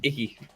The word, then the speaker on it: Icke: Icke, and you spell it like this. Icky. David. So like icky. Icky like that.